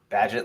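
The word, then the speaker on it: Bagent: rooster and drafted Baggett, however you say that. I don't know what your name is. Badgett? Isn't it Badgett? I think it's Badgett. Yeah. Yeah. Badgett, like pageant, but not spelled like that.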